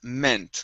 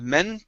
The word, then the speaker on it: meant: have uh the word meant okay so make sure to pronounce that t here so instead of men okay this is um